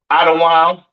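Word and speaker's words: אדום: Edom, Idawam, the devil that the Bible speaks of, your oppressor, the so-called Caucasian man, woman, and child, pronounced Idawam.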